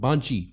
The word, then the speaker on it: 番地: With the Shome address system cities are divided into districts, then each block in the district is numbered pronounced Banchi.